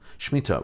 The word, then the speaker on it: shemitah: jewish custom of shemitah shemitah rhymes with pita is a sabbatical year